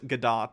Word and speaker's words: Gadot: uh gal gadot uh i think i'm supposed to pronounce gadot i've said godot before and people have corrected me but uh what's